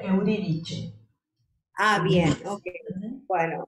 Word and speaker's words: Euridice: sí, en italiano se pronuncia Euridice. Ah, bien, ok. Bueno, Euridice, ¿sí?